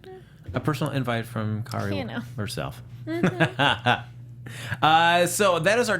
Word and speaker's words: Kari: Yeah, I got to meet Kari Walgren, which she spells her name like me, but she pronounces it Kari.